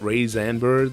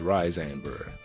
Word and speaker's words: Rayxanber: And yes, as much as I really want to call it “Ray-zanber”, the correct pronunciation is “Rye-zanber”... It isn’t “raisin bar”.